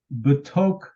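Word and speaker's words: בְּתוֹךְ: Remember that your schwa is silent after the first vowel, but it separates your syllables. So you've got a separate syllable, b, tok, the tok, and that's in the midst of.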